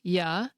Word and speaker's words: you: For example, the strong form of the pronoun “you” is “you,” the way you pronounce it when you’re reading it all by itself. However, it also has a weak form, which you’ll hear in sentences like “What do ya want for lunch?” Did you hear how it was pronounced “yuh”?